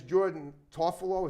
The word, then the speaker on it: Jordan Tofalo: was part of the crew her name is Jordan toffolo is that how you pronounce it yes like it's spell yeah okay